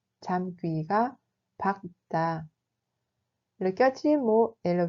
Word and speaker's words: 잠귀가 밝다: 잠귀가 밝다 se prononce comme 잠귀가 밝다. 잠귀가 밝다.